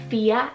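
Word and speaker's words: Fiadh: here we have Irish names so we have FIA and Oscar Sophia is spelled f-i-a-d-h so you have the Irish spelling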